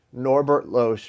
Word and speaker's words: Norbert Loesch: Norbert Loesch made this tarot deck. That's how you pronounce it.